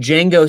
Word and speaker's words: Django: yep oh who said Django saying the D is silent oh yes Ryan we